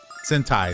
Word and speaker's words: Sentai: Yeah, and like it's I guess it's probably closer to like I always mispronounce this, but like the Seinen Warriors, like the Power Ranger-esque type of thing. Sentai? Sentai, thank you.